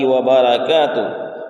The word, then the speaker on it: وبرکاتہ: بھی غلطیاں ہوتی ہیں، وبرکاتہ وبرکات کہتے ہیں، یعنی وبرکاتہ کو کے بجائے وبرکاتہ کے بجائے وبرکات، یعنی را میں را کو سکون کے ساتھ پڑھتے ہیں، تو یہ پڑھنا غلطی ہے۔ السلام علینا وعلی عباد